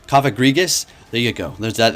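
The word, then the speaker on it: Cofagrigus: Coffagus is not the correct way. Coffagrigus.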